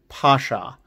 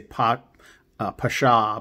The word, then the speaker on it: Pasha: 34 weeks from this week is the 100-year anniversary of the assassination of Talat Pasha. I always mispronounce it. I say Pasha, but it's Pasha, right?